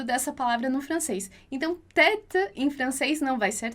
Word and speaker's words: tête: Então, a gente tem lá tête, tête. E aí você já sabe, então, que o E a gente vai pronunciar com o som de E, porque tem um acento circunflexo ali em cima.